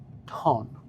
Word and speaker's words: Houghton: It's not that I can't pronounce it, I just want to make sure I pronounce it correctly. So the town doesn't get offended. Exactly. So it's called Houghton.